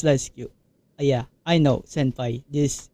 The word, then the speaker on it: LiSyQ: Yes, it's called LISQ. And I know there are some many instances that kind of, some variations of how they pronounce the name, but it's this is I bet this is the safest way to to say this. So it's LISQ.